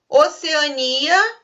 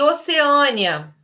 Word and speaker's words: Oceania: Oceania e Oceânia. Também, você pode pronunciar das duas formas.